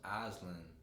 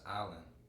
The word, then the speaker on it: island: like it's not pronounced aslan the s is silent it's pronounced island and i'm like you